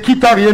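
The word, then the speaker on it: Mkhitaryan: Oubliez le M. C'est Kitarian, vous prononcez, c'est ça.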